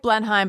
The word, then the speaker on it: Blenheim: It's spelled like Blenheim, but you pronounce it Blenheim.